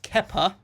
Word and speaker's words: Kepa: It's pronounced Kepa, but there's nothing wrong with having a keeper called Keeper.